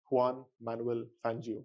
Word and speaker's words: Juan Manuel Fangio: Um, can you pronounce him for me again? Juan Manuel Fangio.